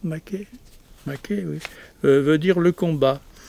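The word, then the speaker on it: μάχη: En grec, maké, oui, on prononce bien comme ça, maké, oui, veut dire le combat.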